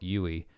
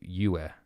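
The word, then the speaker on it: Yueh: It's not Yui. It would be Yue. Think yeah, but with a U.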